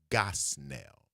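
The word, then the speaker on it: Gosnell: His name is Judge James B. Gosell. G O S N E L L rhymes with hell.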